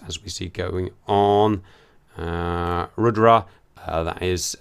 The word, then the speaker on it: Rudra: How do you pronounce it? Is it Rudra?